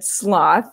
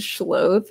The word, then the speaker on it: Schloth: when people mispronounce it, some people have straight up just said Schloth, as, like, that's how they read it, and it's Schloth, but I also just like Schloths a lot and their energy.